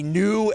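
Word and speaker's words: Neu: They even refer to as a new era. His name is spelled N-E-U, but Mike New is a former Ball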